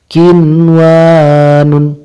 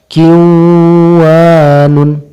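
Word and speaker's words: قنوان: tapi harus dihindarkan dunia yang kedua qinwanun tidak boleh dibaca kwanon yang ketiga sinwanun tidak boleh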